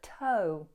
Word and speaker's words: toe: And let's have a nice sweeping O in toe. Not to or to, but toe.